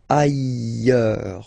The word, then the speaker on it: ailleurs: Look, final S not pronounced, and then you've got this y sound. Ailleurs.